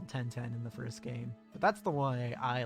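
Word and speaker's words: ガ: The G sound is always pronounced as hard G. Don't be tempted to pronounce it like a J.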